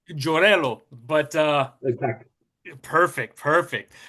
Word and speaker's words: Giorello: um Gorgello. Did I pronounce that right? It's Jorello. Jorello.